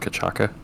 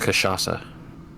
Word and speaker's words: cachaça: So, that special rum adjacent that I had called Kachaka. Yeah. Not how you pronounce that in the slightest. It's actually way more fun to say. It's pronounced Cachaça.